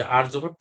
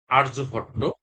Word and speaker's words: আর্যভট্ট: আর্যভট্ট বাংলায়, আর ইংরেজিতেও আমরা এটা আর্যভট্ট উচ্চারণ করব। তবে এখানে যদি আমরা মানে এমনি এখানে এই যে বানান করে যদি আমরা উচ্চারণ করি, সেখানে কিন্তু আহ এই উচ্চারণটা কিন্তু এরকম আসে যে আরিয়া ভাট্টা, আরিয়া ভাট্টা এরকম আসে। ঠিক আছে, কিন্তু আমাদের সঠিক উচ্চারণটা হচ্ছে কি আর্যভট্ট।